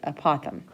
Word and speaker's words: apothem: you is apothem okay uh pothom that's how you pronounce it apothem okay the apothem goes